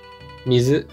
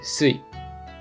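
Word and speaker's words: 水: And this kanji character has two pronunciations, mizu and sui, mizu and sui.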